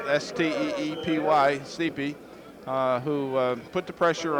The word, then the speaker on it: Steepy: Yeah, that was number 75, Luke Steepy, and that's the way it's spelled, S-T-E-E-P-Y, Steepy, who put the pressure on Mariski, and Mark had to release the ball a little early.